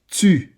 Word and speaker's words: tu: Tu. Tu. Tu. This is one of your biggest challenges as English speakers, to pronounce U because you don't have it in your language.